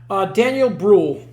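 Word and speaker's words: Daniel Brühl: Daniel Bruhl.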